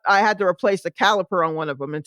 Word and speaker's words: caliper: said it right because it's not not caliber with a B it's the caliper it's what holds the brakes to when you press the brakes it presses down and the pads apply to